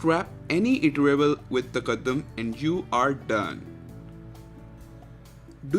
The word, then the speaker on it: tqdm: is the tqdm library tqdm is an arabic word and is pronounced the kaddam which means progress this